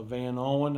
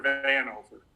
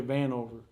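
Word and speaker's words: Vanover: is really formidable uh van owen i think how you say it is how do you say bob how do you say his name i'm sorry that's a connor van over yeah van over he's he's a good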